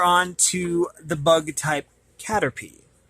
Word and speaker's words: Caterpie: like that kind of cool okay and it's pronounced Caterpie of course it is of the bug element